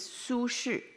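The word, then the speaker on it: Su Shi: The name is Sushu. The way it's spelled is s u s hi. So it's not sushi that we love to eat.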